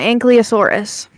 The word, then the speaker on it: ankylosaurus: So, yeah, Ankylosaurus. Right? It's Ankylosaurus. I don't know how to spell it.